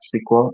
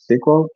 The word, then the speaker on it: SQL: month ago is sque there are people that pronounce this as squal so squal versus no